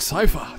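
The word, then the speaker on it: Seifer: You don't get along with Cypher, do you? Yes, that's how you pronounce that name.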